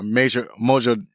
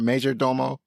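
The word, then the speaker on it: majordomo: butler and her chauffeur and basic her u major mojo how do you say that? Major Domo Mojo Domo like her house.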